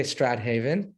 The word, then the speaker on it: Strathaven: Okay, Strathaven. Got it. Just think Shakespeare, Stratford on the, that kind of thing. Okay, and I'm from New Haven, so somewhere in the middle we got Strathaven. Jewish Life Center in Sandton, South Africa.